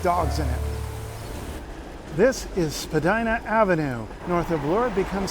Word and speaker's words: Spadina: a fountain with dogs in it this is Spadina Avenue north of Lord becomes Spadina Road and if you follow it up a hill at the top of the hill is the estate it's named after Spadina house that's right no Spadina house Spadina house